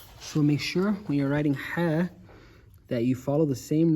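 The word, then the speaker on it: ح: writing hair there and say ha ha is in the middle of your throat this letter right here is a throat letter and it's saying it comes out from the same place as iene so say I they share a common mother or a place where they come out of so make sure you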